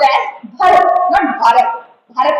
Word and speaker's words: Bharat: हो कि BHARAT है, तो दैट will be pronounced as भारत, नॉट भारत।